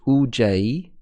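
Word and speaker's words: ujjayi: the five keys are the psychic breath UJ pronounced UJ psychic sound the mantra the psychic passage called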